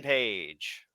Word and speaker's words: Page: The guy whose name rhymes with Christian Cage, and it's not Brian Cage, it's Hangman Page.